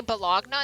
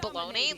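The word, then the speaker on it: bologna: she's like well that's how that's how you spell it like that's how it's red I'm like do you say balogna instead of baloney like what do you mean not everything is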